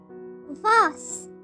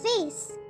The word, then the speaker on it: vase: curtain curtain blinds blinds Voss which can also be pronounced as vase Voss or vase alarm clock alarm clock